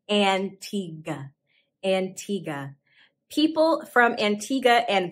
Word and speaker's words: Antigua: antigua and bar buddha you might be tempted to say antigua but say antigua antigua people from antigua